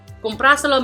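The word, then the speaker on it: cómpraselo: COM-PRA-SE-LO means buy it. So in this case, we see that the word has 4 syllables, and it's the first one which is going to have the accent.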